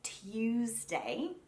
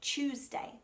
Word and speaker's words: Tuesday: Rather than saying Tuesday, which really would be correct, Australians tend to make it a ch sound, like it's a CH, and we say Tuesday.